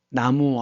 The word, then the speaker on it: 나무: 나무 아미타불 관세음 보살할 때도 나무는 남무입니다. 우리 한자 발음은 남무이지만 그쪽 산스크리터 발음으로 나무라고 있는 거예요.